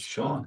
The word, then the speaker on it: Sean: hang on, it's pronounced Sean, Sean. Yeah. and it's SH rather than S, which you can tell just by listening to him talk about anything, Yeah.